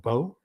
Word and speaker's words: bo: which is uh in in Japanese it's called Bo So when you say bo staff that's actually being um redundant because bo means staff so you're saying staff staff or Bobo um not boo-boo but Bobo kind of